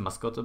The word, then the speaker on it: mascota: the same brand, because brand of mascot, it's actually mascota, but you can call